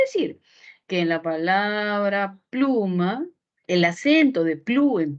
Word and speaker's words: pluma: Si yo muevo la sílaba tónica, ¿cómo sería? Ah, pues ya no sería pluma, sino sería plumá, plumá, plumá. Suena raro, nunca lo hemos escuchado.